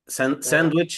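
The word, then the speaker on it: sandwich: ساندويش ساندويش سان لا ما تقولش ساند ما تنطقش الدي احنا لسه متفين مش قبلها الان وبعدها الدبليو حرفين ساكنين يبقى ما ننطقش الدي سانوتشانشانش ساندوتش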